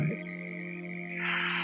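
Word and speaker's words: ح: यानी हा को निकालने के लिए आपका गला साफ होना चाहिए, क्योंकि लाइट हा इसको हम बोलते हैं, और लाइट हा हमेशा गले के दरमियान से निकलती है। इस लेटर को हमने कहाँ से अदा करना है? मिडल ऑफ थ्रोट से इसको अदा करना है, और इसको इस तरह से अदा करेंगे, हा हा।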